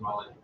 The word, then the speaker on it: Molyneux: Majuro, pronounced Marley, Molyneux, pronounced Molly, and Wolfartisworth, pronounced Woolsworth.